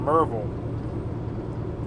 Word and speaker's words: Marysville: outside of harrisburg there's a town called marysville but if you talk to any of the older locals it'll sound like they're saying marvel because they'll just go wait for them all marvel they run it all together so fast it's yeah